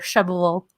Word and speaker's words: Shelbyville: It's in Shelbyville, Tennessee, or Shelbyville. as I'm getting better, Shelbyville, Tennessee. Trying to say it like locals, which is right outside, well, on the way from Nashville to Lynchburg.